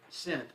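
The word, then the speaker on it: scent: one oh this one the word sent s-c-e-n-t sin which letter is silent the s for the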